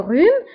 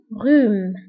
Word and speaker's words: rhume: فانتبهوا le rhume يكتب بH ولكن لا ننطقها. le rhume. d'accord H لا تنطق.